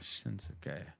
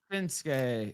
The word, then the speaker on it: Shinsuke: who the wrestlers are shinsuke nak it's not shinuk it's Shin shinuk not shinuk right you don't pronounce it right that way okay no it's shinsuke Nakamura and it's ASA he looks like he's